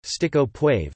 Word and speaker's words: Steak au poivre: Steak au poivre, French pronunciation, steak au poivre, Quebec French pronunciation, steak, K-O-P-W-V, or pepper steak